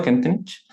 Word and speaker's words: Kentenich: Jefe de UTP, tercer ciclo del Colegio Padre José Kentenich. ¿Está bien pronunciado? Kentenich.